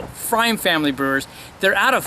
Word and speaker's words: pFriem: And the P is silent on there, so they make it small. pFreim Family Brewers.